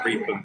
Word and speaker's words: Reepham: Sorry, it's spelled Reepham, but it's Reepham because Norfolk.